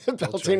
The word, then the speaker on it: Beltane: It rhymes with Schmeltane. Oh, Beltrain. Beltane Ranch, yeah, yep.